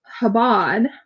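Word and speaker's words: Chabad: So So I was looking on Habad. Habad. Chabbad. Habad. I think it's habad because the ch Yeah, habad.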